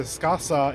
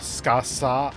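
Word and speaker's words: Scáthach: I know that the kana in Japanese is su-ka, su-ha, so U kind of goes away at times due to phonetic reasons, basically. So it's kind of Skasa as how it's kind of pronounced as a result.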